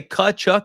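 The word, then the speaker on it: Tkachuk: I think you say Kachchuck even though it's spelled with a T.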